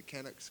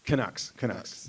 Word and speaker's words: Canucks: Yeah, the how you pronounce it? The Canucks. Canucks.